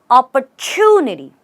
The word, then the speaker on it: opportunity: opportunity or even opportunity but the right way to say this word is opportunity you see the TU the T becomes a CH and you say OPP Chun opportunity try and say it